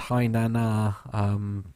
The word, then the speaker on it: Hainan: Apparently it's pronounced Hainan, the airport name, not the one that I couldn't do.